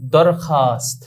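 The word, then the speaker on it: درخواست: যেমন দরখাস্ত দাল রে খে ওয়াও আলিফ সিন্তা। তো আমরা স্বাভাবিক যদি ওয় উচ্চারণ করতে যাই আমরা স্বাভাবিক অর্থেই বুঝি। দরখাওয়াস আমরা মনে করি যে এরকম মনে হয় উচ্চারণ হবে না। দরখাস্ত তাহলে খে আলিফ বললেই তো হয়ে যায়। ওয়াওটি লেখায় আসছে কিন্তু ওয়াটি উচ্চারণে আসেনি।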